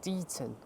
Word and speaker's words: Deighton: So here we are at the next stop down the line at Deighton, not Deighton, Deighton, D-E-Dun, Deighton.